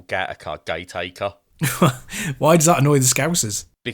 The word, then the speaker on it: Gateacre: There's a place in Liverpool called Gateacre, but it's spelled Gateacre, and they don't like it when you say Gateacre because it's Gateacre.